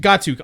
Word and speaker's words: Gatuk: It's pronounced Gatuk. Gatuk.